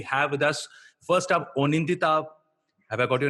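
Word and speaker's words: Anindita: The trailer is looking amazing, and we have with us, first up, Onindita. Have I got your name right? Onindita is the right pronunciation for it.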